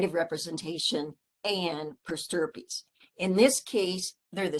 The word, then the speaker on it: per stirpes: Now, if you have an attorney that wrote your will years ago, the term might have been per stirpes, and it's spelled PERSTIRPES, per stirpes.